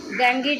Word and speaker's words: dengue: जैसे आपने अभी एग्जांपल देखा, ये मलेरिया और डेंगू नहीं बोलते हैं उसको, प्रोनाउंसिएशन अगर सही कीजिएगा इंग्लिश में तो that is डेंगी, DENGUE, डेंगी.